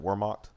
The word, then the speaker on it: Wehrmacht: Is it Wehrmacht? Yeah, Wehrmacht. Wehrmacht. It would be pronounced with the V.